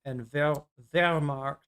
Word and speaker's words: Wehrmacht: Yeah, Randall's pointing out that W's in German are pronounced like V's in English. Yep. So it's Waffen and Wehrmacht.